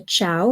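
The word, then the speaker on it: ciao: are chia okay so the Chow is a soft C because you got the c i okay c i a o Chow d d okay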